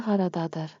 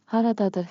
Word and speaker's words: Haradadır: Haradadır harita. Pronunciation beat. Clap with me. Rhythm makes memory sticky. Ha ra da dur. Ta ta ta ta.